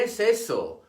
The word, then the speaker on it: ese: The Spanish word for this letter is ese. It is pronounced like the S in saint and never voiced like the S in easy.